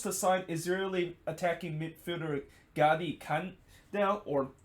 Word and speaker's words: Gadi Kinda: Now, SKC is close to sign Israeli attacking midfielder Gadi Kanda, or Gadi Kinda, if that's how you pronounce. I know when you look at it, it's probably pronounced kinda, but I think most